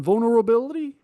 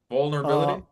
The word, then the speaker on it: vulnerability: Is the L silent in that word? That's the first question because I can't pronounce it. Oh, no. No, it isn't. Answer vulnerability. You say the first L in vulnerability.